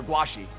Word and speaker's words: Guaxi: But I think that Lord Simi and Guaxi, or Guashi, that's how I'm supposed to pronounce it.